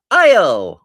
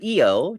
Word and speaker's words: Io: And that brings us to Io or Eo, depending on how you want to pronounce it.